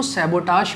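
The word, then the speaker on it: sabotage: किसी चीज़ को purposefully damage करने को सैबोटाज करना कहते हैं। इट्स a noun. इसके प्रोनाउंसिएशन पर विशेष ध्यान दीजिए। सैबोटाज, सैबोटाज।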